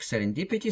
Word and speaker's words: serendipity: And then they say, читается слитно, как serendipity. Читается слитно, как serendipity, с ударением на «ди». So, читается слитно.